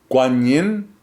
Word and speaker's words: Guan Yin: You see this image of uh Guan Yin, which is more of a Chinese pronunciation.